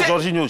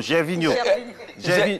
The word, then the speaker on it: Gervinho: Non, pas Jorginho, Gervinho. Gervinho. Ah, c'est Gervinho.